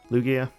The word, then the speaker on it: Lugia: in the game since probably the Lugia run Lugia yeah that's the way you pronounce it and we've got such a stacked